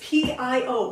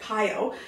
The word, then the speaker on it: Pio: It's P-I-O, by the way, Pio. I don't know how they pronounce it in French, but I pronounce it Pio, like, you know, gyroscope kind of thing, that sort of thing.